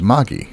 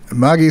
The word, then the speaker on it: Magie: to check is that when you read magi the accent is on the back right so it' be Magi and Kabal says that's right uh she often gets corrected on that when she says it